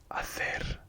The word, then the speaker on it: hacer: So in Spanish, the H is like it doesn't exist. So if a word starts with H, you just ignore it and pronounce the other letter, if that makes sense.